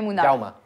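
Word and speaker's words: Munar: On dit Mounard. Ouais, On dit Mounar. Mounar. Mounar. Mounar. Raume. Raume Mounar.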